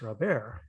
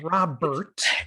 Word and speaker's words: Robert: that he is now back to being luis robert not robert it's it's really it's